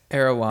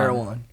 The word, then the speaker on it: Erewhon: How do you say Air One? Erewhon. Erewhon.